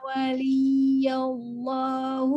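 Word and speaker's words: وليّ الله: Inna waliyallahu alladzi Li-nya ditekan karena dia bertasydid.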